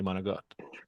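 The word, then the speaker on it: manicotti: could say monikat monati Americans will pronounce the I on the end but we say managot all right homeade it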